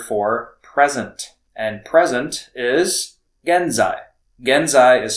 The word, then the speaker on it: genzai: And present is genzai. Genzai is spelled G E N Z AI.